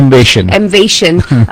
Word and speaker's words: Emvation: Emvation. But it sounds very much like motivation. It sounds like a acronym for motivation almost.